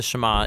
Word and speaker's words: Shema: Now, the first word of the Shama is hear or listen, which in Hebrew is pronounced shama.